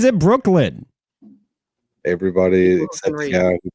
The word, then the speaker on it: Brooklyn: They made fun of me for mispronouncing your name and calling you Brookline. Yeah. I mean, who pronounces it Brookline? Who pronounces it Brooklyn?